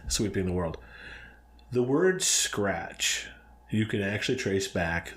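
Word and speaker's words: scracche: It's probably pronounced like scratch.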